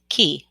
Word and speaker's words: cay: in love and unity my key to soul awakening is spelled cay because manifesting my highest and best life brought me here to this beautiful island in the caribbean and in the caribbean we call islands key c-a-y and that's why this